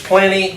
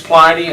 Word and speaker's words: Pliny: may be a surety if it's a short I it's plenty but I think it's Pliny I won't argue over that